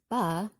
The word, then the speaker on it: bet: "Pronounced 'bah'...